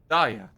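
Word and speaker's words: Dauja: D A U J A. Yeah, I'm just struggling with cursive, I think. Dia J is silent.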